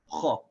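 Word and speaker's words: خَ: Now when we get to the kha, we say kha. See how the sound is a little bit different? Instead of pronouncing the fatha light, we don't say kha. See, that would be light. Instead, we say it full or heavy. We say kha, kha.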